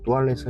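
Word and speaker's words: toilette: 텐데요 르펜은의 프랑스식 발음입니다 다시 살펴보면 뚜알렛 영어 식으로는 토일렛이 해야 하지만 역시 프랑스식으로 뚜알렛 발음합니다 이렇게 형성된 데는 나름의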